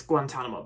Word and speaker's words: Guantanamo: how to pronounce the how to how to pronounce Guantanamo so yeah it's Guantanamo Bay all right anyway so Harold and Kumar